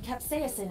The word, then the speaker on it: capsaicin: I detect trace amounts of capsaicin in the air. Capsaicin. From, that's how that's pronounced.